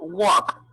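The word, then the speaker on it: walk: bien vamos al verbo waka waka tiene una ele que siguiente sl no se pronuncia igual en pasado sería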